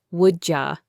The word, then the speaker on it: would you: For instance, would you becomes woulja.